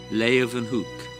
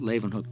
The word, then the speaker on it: Leeuwenhoek: la y Lai ooh and then they pronounce it with a V Huke Leeuwenhoek op Toni fall even